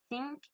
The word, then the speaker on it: think: La première, je l'ai mal dit, parce que j'ai pas mis ma langue entre mes dents. Et la deuxième, j'ai mis ma langue entre mes dents. Du coup, j'ai réussi à la prononcer. Donc, on entend bien la différence entre think, think.